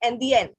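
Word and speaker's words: indienne: But if it's feminine, double N E, then it will be NDN.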